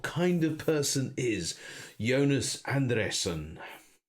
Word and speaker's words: Andresen: And how about the pronunciation of Jonas Andresen? Jonas Andresen. So it's Andresen.